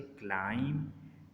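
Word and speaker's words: climb: बी इज़ not pronounced when following M एट द एंड ऑफ the word. अगर बी के बाद एम आ रहा है, यानी कि एम से एम आ रहा है और उसके बाद बी आ रहा है, तो बी साइलेंट हो जाएगा। जिस तरह से क्लाइम, क्रम, डम, कोम। अब इसमें आप जो है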